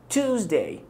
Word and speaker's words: Tuesday: التي اللي في الاول بتكون strong تي، تي قوية ت ت ت، تمام. وبعد كده عندك الصوت او تو، وصوت الوه بعد كده توز توزداي توزداي. الاس هنا نطقتها ز، توزداي توزداي توزداي، يعني